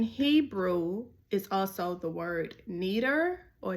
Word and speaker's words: neder: Now a vow in Hebrew is also the word neder or neder. It's spelled N-E-D-E-R, and that means promise to perform